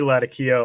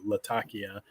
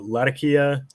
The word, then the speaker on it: Latakia: uh is is correctly Latakia um which is how they pronounce the name of the city in Syria uh Latakia or lazakia uh is